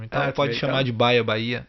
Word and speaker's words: Baia: A pronúncia justa? Bahia. Baia. Eu li Baia. Na verdade o meu Bahia, né, ele não tem o H, ele tem um acento no I, mas no digital, para